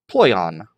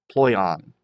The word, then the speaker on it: ploion: Then it has a easier pronunciation help, ploion, ploion.